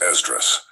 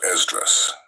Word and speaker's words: Esdras: Now let's talk about Esdras. Esdras' writings can be found in all modern Bibles today under the name Ezra. Esdras is just the Greek pronunciation of the name.